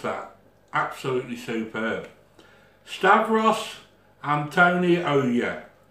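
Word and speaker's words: Stavros Antoniou: Steros Antonio. Yo. Now, my goddaughter has pronounced that absolutely superb. Stavros Antonio, it's spelled A-N-T-O-N-O-I-O-U, Stavros.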